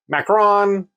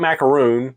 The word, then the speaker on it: macaron: with a French macaron I macaron not macaroon macaron macaron something I don't know